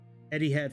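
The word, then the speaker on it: Etihad: it's a trip 7 Eddie had flight I think that's how you pronounce it cu the H is after the ey so it's Eddie Eddie had something like that Eddie had uh is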